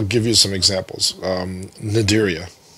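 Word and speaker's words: Cnidaria: you some examples um naderia how do you spell nedaria c-n-i-d-e-r-i-a so the a-r-i-a that's not fun the c is silent yeah well look if i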